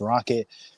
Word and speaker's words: RKKT: My name is RKKT, pronounced Rocket.